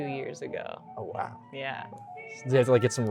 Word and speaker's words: Ughwow: So earlier this year you released your EP Ughwow. Did I mispronounce that? You mispronounced the easiest word. Oh, I did? Is wow. Oh, wow. Oh, sorry. I misread my handwriting. Yeah. It's oh, wow.